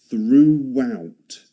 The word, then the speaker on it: throughout: See the W sound in the middle of that? Throughout. Throughout. Okay. Fourth is the word. Okay. So that's through. Through out. Throughout. It's a difficult word to pronounce, isn't it? First, you need to start by sticking your tongue between your teeth like this. Relax your mouth like you relax it. Stick your tongue.